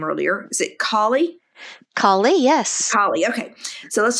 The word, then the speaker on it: Kali: I want to shift gears a little bit and talk about um Is it And, I think I mispronounced your name earlier. Is it Kali? Kali, yes.